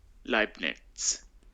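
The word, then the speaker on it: Leibnitz: Leibniz.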